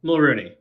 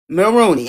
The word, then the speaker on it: Mulrooney: Just help me with the last name just so I make sure I said it right. Mulrooney. Mulrooney. Okay, I did.